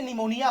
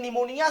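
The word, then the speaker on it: pneumonia: और एक पी से निमोनिया हो गया निमोनिया में पी लगा होता है वो साइलेंट होता है जानते ही है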